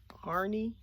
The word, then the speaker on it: Harney: And I first heard about the cinnamon teas from the, is it Harney and Sons? Harney is how you say it.